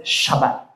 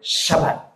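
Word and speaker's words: שבת: Hebrew It's gusto niyo matuto ng Hebrew we pronounce it shabbat one more time shabat yung may gigil yung may gigil sa dulo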